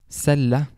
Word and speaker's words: Celle: Typically, however, it will either sound like an S or a K sound. So examples would be camping, camping. Celle, celle.